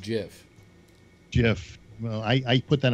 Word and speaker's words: GIF: did that gift I don't talk it's called pronounced Jeff Jeff well I put that on bread am